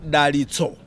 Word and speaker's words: Daliso: In Malawi, it's spelled TSO. Daliso. In Zambia, it's spelled ISO. Okay. And because I was in Zambia when I was born, my parents chose to use the local Zambian pronunciation.